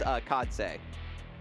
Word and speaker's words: Khadse: And we do have, and we also just, I always try to pronounce the players' names correctly. It is Khadse.